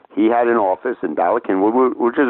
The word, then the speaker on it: Bala Cynwyd: What two professional leagues had their headquarters in Bala Cynwyd, BALACYNWYD, pronounced Cynwyd, a Welsh word, had their headquarters in Bala Cynwyd, Pennsylvania?